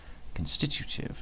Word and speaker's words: constitutive: constituted can stitch constitutive constitutive i think i've been putting an extra syllable in there constitute constitute constitutive one